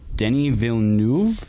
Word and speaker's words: Denis Villeneuve: Denis Villeneuve.